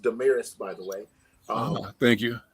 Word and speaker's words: DaMaris: And it's pronounced DaMaris, by the way.